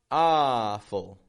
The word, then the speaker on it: awful: So we're going to take that ah from father and we're going to add it to a whole bunch of words that have AW and AU.